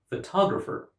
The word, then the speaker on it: photographer: Now, in the first word, because the speaker puts the stress on the first syllable, we understand that the word is photograph. And in the second word, because the speaker puts the stress on the second syllable, we understand that the word is photographer.